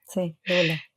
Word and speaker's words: doula: Pero hoy no estamos, en principio, para hablar de ese tema, sino que Rita además es dula. Se pronuncia así, ¿no? Rita, arranquemos por el principio. Sí, doula.